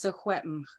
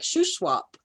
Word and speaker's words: Secwepemc: In Secwepemc, it's Secwepemc. But yes, it's been by the settlers switched over to sound more like Shuswap somehow.